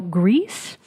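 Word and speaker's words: Gris: is upcoming indie title grease which is spelled the French way of gr is which means the color gray in French I won't tell you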